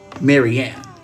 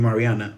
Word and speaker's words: Marianne: Marianne. Okay. Hi, K. Let me pause you, Chandra Saba, because I got to focus. Mariana, Maryanne, sorry, I keep wanting to call you Mariana.